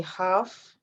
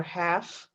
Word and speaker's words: half: when you say this the l is not pronounced so it's only half if you say british way or half if you say the american way without the l part half or half okay